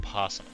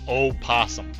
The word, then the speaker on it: opossum: YouTuber, tell me last week that you can either pronounce it or not pronounce the O in possum. Opossum.